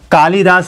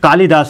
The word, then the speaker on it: कालिदास: कालिदास हम उच्चारण कर करके इसको कालिदास बना दिए हैं, लेकिन ये कालिदास नहीं होता है, कालिदास होता है, क्या होता है, कालिदास होता है, कालिदास होता है, है ना।